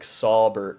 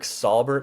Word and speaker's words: Saubert: Eric Saubert saw 2 targets last week with Kittle healthy.